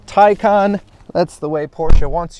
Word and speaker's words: Taycan: tycon 4s and yes even though it kind of looks like it should be pronounced taken it's tycon that's the way porsche